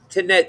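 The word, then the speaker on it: Tanit: Tanet.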